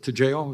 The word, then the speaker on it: Toujeo: Hudson, your product is Toujeo?